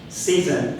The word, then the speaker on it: ZEASN: at this incredible spots Jason as we call season I've got to learn pronounce it right as the Prof P just said season as a company is